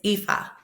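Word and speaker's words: Ifá: It is Epha.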